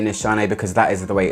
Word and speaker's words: Nishane: anymore I just can't I've been told that it is pronounced NIS Han by a Turkish person and which is where the brand is from however I will be